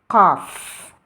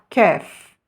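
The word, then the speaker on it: قاف: Il s'agit de la lettre Qaf. Et essayez de la prononcer du fond de la gorge. Qaf. Et non pas Kef.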